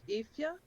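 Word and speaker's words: Aoife: It's pronounced Ifya, but it's spelled Aoise. So then the pronunciation would be capital E dash FYA. Ethia.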